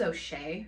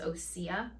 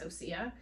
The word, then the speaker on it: Osea: I thought it was O'Shea for some reason, but I think Nicole says Osea. So we're gonna say it's Osea.